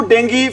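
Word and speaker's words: dengue: ध्यान रखना, इसको बहुत सारे बच्चे हैं क्या बोलते हैं भी, डेंगू बोलते हैं। एक्चुअल में डेंगू नहीं होता भी, क्या होता है इसको बोलते हैं, इसकी सही प्रोनाउंसिएशन होती है भी डेंगी।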